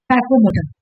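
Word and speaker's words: psychomotor: फिर बोल रहा है कि साइकोमोटर, पी नहीं पड़ेगी, पी से साइलेंट।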